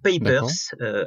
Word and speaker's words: Papers: ça se prononce ninja ou papers en anglais pa2p ers qui vous permet de